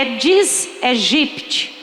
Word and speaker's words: Aedes aegypti: O nome, a pronúncia correta não é Aedes. O nome correto é Aedes. Não se pronuncia o A, que eu escuto até na televisão as pessoas falando esse nome equivocadamente.